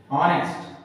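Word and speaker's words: honest: होगी हो गई होगी कुछ लोग अभी भी इसको नेस्ट पढ़ते हैं नेस्ट नेस्ट ये हैय ऑनेस्ट नॉट नेस्ट ये नहीं है नेस्ट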